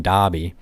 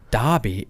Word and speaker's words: Dobby: what an idiot like he keeps pronouncing dobby it's dobie and she just stares at him she's like you think you're right about that basically and he's like is it not dobie and so when i was